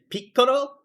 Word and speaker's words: Piccolo: But if you really think about like how piccolo is pronounced in Japanese, pico, that is such a cute sound.